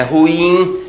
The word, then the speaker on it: ruim: se diga portanto uréter ruim ruim a última sílaba betônica uma tendência Popular muito grande a dizer ruim ruim não é é ruim então ruim oxitona Condor e não Condor